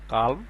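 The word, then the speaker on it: column: এর পরবর্তী আমরা দেখি এন, এখানে দেখেন এন এর উচ্চারণটা আসে না, সি ও এল ইউ এম, কলাম, এন এর উচ্চারণটা এখানে হয় নাই।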